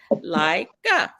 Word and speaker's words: Leica: When two vowels walk together, the first one says his name. So the I says his name, I, and the E is silent. E. It's silent. Leica.